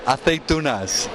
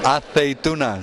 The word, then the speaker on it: aceitunas: The olives, aceitunas. What are they? Aceitunas. Say that to them. Aceitunas. And that's how it's pronounced in Spanish.